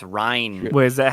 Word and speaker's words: Ryne: Because it's spelled Ryne, so it's not even Mm. like a regular Ryan spelling. So. It's Ryan.